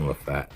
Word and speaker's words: Lafayette: I know it's spelled Lafayette, but I always heard announcers saying LaFat lever.